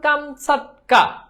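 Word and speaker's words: Камчатка: প্রকৃত উচ্চারণ কামসাটকা, ঠিক আছে?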